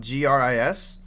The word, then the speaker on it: GRIS: Are you talking about GRIS? Yeah, that's how it's pronounced. It's pronounced Gris. It's Gris.